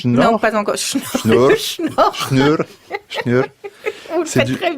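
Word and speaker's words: snjór: Vous n'avez pas la prononciation? Non, pas encore. Schnur.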